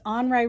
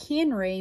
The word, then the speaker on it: Henri: way remember i said his name is anrei rousseau that's french so when you look at his name to us that looks like henry but i'm pronouncing it how you would in french language and he was a